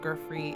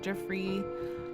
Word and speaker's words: Giuffre: It's not pronounced Grey, it's pronounced Jeffrey.